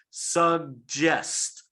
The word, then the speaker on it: suggest: one's tricky so remember the first g is hard sug that was right but the second g is that soft ja it's pronounced like jaw john suggest okay all right let's